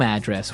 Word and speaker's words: address: So different from your home address where you live. Yeah. And there the stress is on the first syllable.